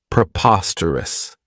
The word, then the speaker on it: preposterous: This adjective has four syllables, and the stress is on that second syllable. preposterous. Remember that o has that schwah, that sound.